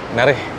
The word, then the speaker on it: Naras: Bang, mau lanjut ke mana Naras tadi? Cara bacanya apa? Nareh. Nare mau keluar dulu. Makasih ya. Narih nari bukan stasiun Naras tapi stasiun Nari.